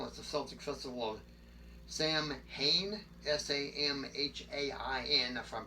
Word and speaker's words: Samhain: pre-christian celtic festival that's the celtic festival of sam hayne s-a-m-h-a-i-n if i'm pronouncing it right or wrong i don't know